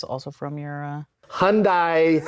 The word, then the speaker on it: Hyundai: Hyundai pronunciation.